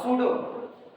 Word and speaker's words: pseudo: given LPP has a pseudo पढ़ा स्यूडो जाता है, लिखा एस्यूडो जाता है, आगे पी रहेगा, पी साइलेंट हो जाता है।